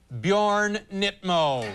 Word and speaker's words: Bjorn Nitmo: Phonetically, of course, that's Bjorn. There you have your Bjorn. There's your Bjorn. Nit. There you have your Nit. Your Nit. Mo. Mo. And you have your Bjorn Nitmo.